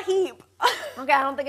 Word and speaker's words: H-E-B: Is it pronounced Heb or is it H-E-B? Or is it Heeb? It's certainly not Hebe, buddy.